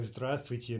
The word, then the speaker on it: здравствуйте: By the way, здравствуйте means literally be healthy, but it's a standard